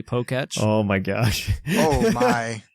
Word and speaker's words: Poketch: Is this one of those moments where you realize you've been pronouncing it Poketech this whole time, but it's actually Poketch?